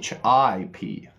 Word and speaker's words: ship: h i p sh sh i p that's not sheep that is ship ship short vow long short long short get it sheep